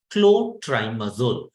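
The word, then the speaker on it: clotrimazole: triazol don't get confused I'm spelling it as pronouncing it as clot triazo most of you students will get confused with cooool that is a different clotri oo is an anti- fungal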